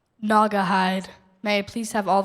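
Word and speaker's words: Naugahyde: Ngahide. Ngahide.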